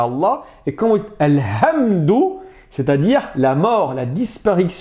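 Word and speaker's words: الحمد: chose et ben non quand vous allez dire al hamd en ver c'est la louange et h c'est la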